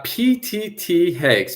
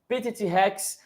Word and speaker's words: PTT Hex: But the name of your startup is uh PTT Hex. PTT push to talk and hex. It's our group name. PTT Hex.